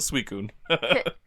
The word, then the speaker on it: Suicune: What's interesting here is that for Ho-Oh, the Bell's Toll doesn't mention Suicune, but we have Suicune spelled different than how we spell it for the English games, but it's still Suicune.